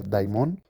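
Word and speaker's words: δαίμων: Primeramente, vámonos al Strong griego y la palabra demonio es la 1142, que se pronuncia daimon y significa demonio o espíritu sobrenatural de naturaleza mala o malvada.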